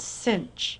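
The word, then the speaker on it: sinh: read the notation of hyperbolic sinx as cinch X so you'll hear me call that cinch rhyming with pinch and hyperbolic cosine X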